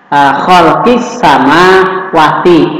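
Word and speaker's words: خلق السماوات: Halo halo kiss samawati dibacanya tidak boleh dibaca Hol kirim samawati ini kan seperti tertekan sulit dan lebih juga salah malahan tapi betul bagus itu adalah kholqissama Wati ini yang memang yang benar Nah lam disini ini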